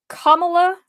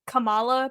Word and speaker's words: Kamala: didn't hear it I it's kamla it's how you'd say her name I might acally say Kamala because there is a Marvel superhero named Kamala and so every time I and they spell the same so every time I see the name that's how I pronounce it in my head so I'm GNA try